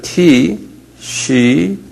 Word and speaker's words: Tishri: 티시리.